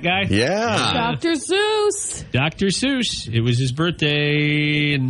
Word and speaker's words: Seuss: you did you know his name was actually pronounced so what Dr so yeah I read that started as Seuss and he just never corrected it just let it go Dr so he's not